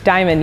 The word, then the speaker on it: Dymon: yeah let's do it my name is diamond diamond yes it is spelled d-y-m-o-n it's my real name